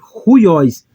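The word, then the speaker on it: υἱός: iremos pronunciar como uiós porém como é uma aspiração áspera eu vou pronunciar como ruióis eu vou trazer um h aqui para frente aí vai ser ruiós como você pode ver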